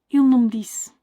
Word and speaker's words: ele não me disse: From ele não me disse, we get il não me disse. What this means is, do not expect important words like não to be pronounced super clearly.